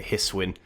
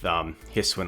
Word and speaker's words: Hisuian: I looked up how to pronounce that regional, the regional form for Electrode. And what I came across is some YouTubers that say Hisuian. So that's what I'm going to roll with. If you pronounce it differently, let me know in the comments.